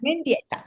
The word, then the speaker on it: Mendieta: No, Mendieta. Sorry, I don't want to mispronounce.